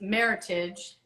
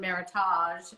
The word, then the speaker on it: Meritage: that i was told the most mispronounced word in the wine business is meritage which rhymes with heritage and but everyone calls it meritage but that's kind of